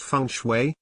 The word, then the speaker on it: Feng Shui: The ancient art of placement called Feng Shui, pronounced Feng Shui, literally means wind and water.